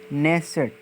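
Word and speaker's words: Knesset: Next है, Israel की संसद का नाम है नेसेट, यहाँ पर के साइलेंट होता है, के यानी SSET।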